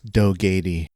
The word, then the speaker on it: Dogatie: defeat the Jupiter Empire and their leader, Crux Dogatie. Or how would you say his name, Isaac? It's Crux Dogatie.